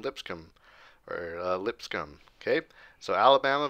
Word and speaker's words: Lipscomb: And I was told in the comments that's how you say it, not Lipscomb or however I was saying, Lipscomb or Lipscomb.